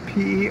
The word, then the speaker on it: Percival's: So that's how you spell it. P-E-R-C-I-V-A-L-S, Percival's.